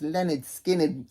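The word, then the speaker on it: Lynyrd Skynyrd: best debut albums ever this is Leonard skinnard pronounced Leonard skinnard from 1974 this is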